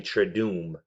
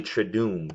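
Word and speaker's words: Triduum: and so I said it wrong it's holy try do meeee thank God I have Google here holy traduz is the three holiest days of the year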